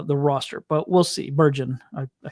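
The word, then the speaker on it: Bergen: But that was kind of my my takeaway is that Junior Burgeman uh is is not going to make uh the roster, but we'll see. Burgon, I said it wrong.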